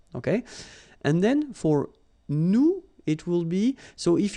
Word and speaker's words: nous: you remember correctly, so final S is not pronounced here. Okay, and then this O-N, so it's a nasal and it goes in your nose and it goes like on. All right, so you don't hear any N, so it's really on.